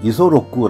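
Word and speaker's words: 五十六: 이름이 한자로 56 입니다 일본 발음은 이소로쿠 라고 하는데 어머니가 56세 에 나왔기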